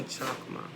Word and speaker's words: Chochmah: I say chokma, right? Chokma. I'm sure they say it with a kind of a different type of utterance, right? With like the guttural sound and stuff, but it's spelled choch. Chochmah.